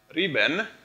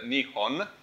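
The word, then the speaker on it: 日本: And this one, I think, in Japanese, let's see, this one, riben, so in Japanese it's like riben, in Chinese it's riben, in Japanese it's nihon, but this one means the origin of the sun.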